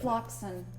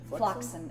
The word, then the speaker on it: Floxen: Floxen. F-L-O-X-E-N. Which way is it pronouncing correctly? Floxen? Flotsam. Floxen. Floxam. Like a flock of oxen.